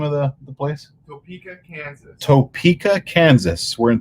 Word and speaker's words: Topeka: We're coming to you live from a hotel in, help me, guys, help me pronounce the name of the place. Topeka, Kansas.